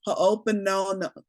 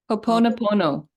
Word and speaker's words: Ho'oponopono: Ho'oponopono. Jacqueline knows how to say it. Ho'oponopono.